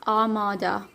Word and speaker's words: Armada: R is silent, it's Armada.